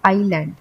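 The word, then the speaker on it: island: आइलैंड बोलते हैं हम क्योंकि इसमें आई साइलेंट है। तो हम बोलेंगे आइलैंड।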